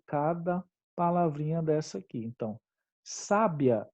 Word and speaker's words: sábia: palavrinha dessa aqui então sábia é um adjetivo e a gente acentua por quê porque é um uma paroxítona terminada em ditongo sabia é um verbo né e a gente não aceitou a sabia porque é um hiato só q ue é sempre a primeira vogal tônica e não segunda tudo bem e a